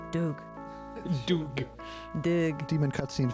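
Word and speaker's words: Dug: I was wondering whether we pronounced it differently since it was spelled D-U-G. I thought maybe it was Doug.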